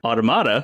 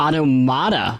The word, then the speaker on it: Automata: Two games of which are Spelunky and Nier Automata. Automata. Yes. Yes, not Automata. Because that is the correct, that's how you pronounce the actual word. Yeah. But Automata is how it's pronounced in the game.